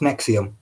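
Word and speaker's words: NXIVM: nxi most note is NX IBM yeah pronounced nexium is it not not sure maybe hmm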